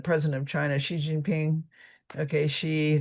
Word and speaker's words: Xi: of China Xiinping okay she the X it's pronounced like that but people are looking